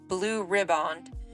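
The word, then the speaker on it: Blue Riband: voyage on May 27th 1936 and won the Blue ribbond um Steve said that's how you pronounce it that August the blue ribbond was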